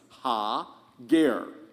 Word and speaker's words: Hagar: It is correct to also pronounce Hagar's name as Ha-ger.